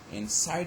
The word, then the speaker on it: inside: second one is side inside has got i which is a diphthong so this is an example of a word okay which has got a syllable which contains diphthong so that's a liberal stress so here in this example the second or the final syllable is stress why because it has got a diphthong okay look at the